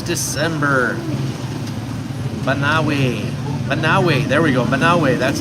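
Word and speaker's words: Banaue: Banawe.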